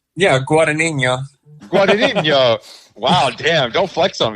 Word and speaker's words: Guadagnino: Nick, can you pronounce his last name? Yeah, Guadagnino. Wow, damn! Don't flex on me like that. He had that Luca one already teed up, Guadagnino, ready to go.